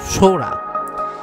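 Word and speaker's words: Sohra: চাষ হয় না একচুয়ালি চেরাপুঞ্জির আসল নাম হলো সৌরা ব্রিটিশরা যখন এখানে এসেছিল উনারা সৌরাকে চেরা বলে উচ্চারণ করতেন আর সেখান থেকেই যারা টুরিস্টরা আসতেন সৌরার থেকে চেরা চেরার থেকে পুঞ্জি মানে চেরাপুঞ্জি হয়ে গেছে আদৌ চেরাপুঞ্জি এখানকার নাম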